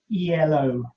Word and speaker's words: Elo: is based on the elo rating it's actually not an acronym it should be pronounced in ello rating if you google